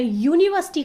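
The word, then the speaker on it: university: हम प्रोनाउंस कैसे करें यूनिवर्सिटी कर रहे हैं तो यू की जो साउंड है वह या की साउंड है इस वजह से हम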